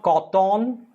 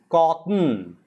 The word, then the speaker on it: cotton: not cotton it's called cotton the t also is slightly silent listen carefully it's not cotton it's cotton cotton so the tea is almost half pronounced soft very soft half balanced then you have kite